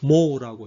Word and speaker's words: mho: 5옴이라고 읽고 요거는 컨덕턴스의 단위는 요거 읽는 방향을 거꾸로 하면 됩니다. MHO 해가지고 모라고 읽으면 됩니다.